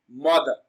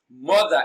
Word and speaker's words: mother: Mother. Mother is pronounced and broken down into syllables as more. More is receiving the stress. It is pronounced louder and longer.